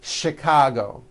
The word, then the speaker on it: Chicago: that are spelled with CH and are also pronounced with the sh sound. Words like chef and the city of Chicago.